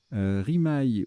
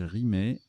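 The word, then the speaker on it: rimaye: Rimaille ou rimet, ça se prononce aussi rimet.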